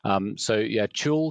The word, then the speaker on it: TUAL: TUAL comes from the word perpetual. Nobody realizes that, so I try and point it out now. Otherwise, there are too many different ways to pronounce the letters TUAL.